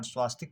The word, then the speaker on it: स्वस्तिक: सी हमारा स्वस्तिक भी सही है, जिसको हम लोक व्यवहार में अशुद्ध उच्चारण स्वास्तिक करते हैं, लेकिन स्वस्तिक ही शुद्ध होता है वर्तनी की दृष्टि से, इसलिए विकल्प डी हमारा सही हो जाता है, सभी।